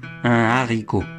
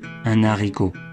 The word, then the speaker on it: haricot: et bien sûr haricots l'Académie française demande de prononcer un haricot des haricots mais comme il n'y a pas vraiment de problème de confusion beaucoup de Français disent un haricot des haricots en conclusion